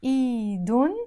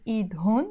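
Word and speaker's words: إيدهن: And iidun, we don't pronounce it iidhun, we pronounce it iidun.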